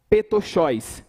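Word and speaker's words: πτωχός: Lucas ele vai usar um termo grego que que que pronuncia dessa forma petcho que significa indigentes pessoas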